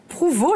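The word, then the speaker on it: Prouvost: Et c'est donc Laure Prouveau, je vais y arriver, j'ai interverti les deux syllabes. Prouveau, qui est une plasticienne et vidéaste plutôt provocante avec des installations immersives qui font cogiter.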